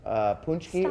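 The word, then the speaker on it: pączki: It's pronounced punchki or punchki.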